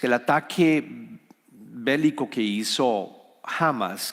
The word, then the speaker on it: Hamas: Porque lo que ocurrió con Hamas, el ataque bélico que hizo Hamas, que se pronuncia teóricamente en español, entiendo Hamas, fue algo que la semana pasada tomó por sorpresa al pueblo de Israel.